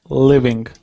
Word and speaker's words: living: you get that V sound, I want to really hear that V. Living. Okay. Living. Simple living. Good. You didn't make a mistake before, but I heard that it was like a half V, half W.